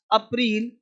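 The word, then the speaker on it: April: फरवरी जनवरी फरवरी मार्च अप्रैल अप्रैल नहीं अप्रिल ठीक है जनवरी फरवरी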